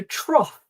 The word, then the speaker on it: trough: Another peculiar pronunciation for the letter combination, isn't it? Cough. And also trough.